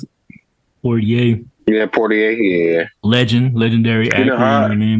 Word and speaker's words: Poitier: But man, Sidney Poitier. Is that how you pronounce it? Poitier. Yeah, Poitier.